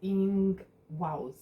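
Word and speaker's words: Ingwaz: And the pronunciation is Ingwas, meaning earth and sacred.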